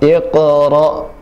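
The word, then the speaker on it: اقرأ: Iqra. Ya, ketika hamzah yang sukun, maka suara langsung terputus dan nafas terputus. Iqra, bis, nafasnya ketika sin yang sukun, nafasnya dialirkan.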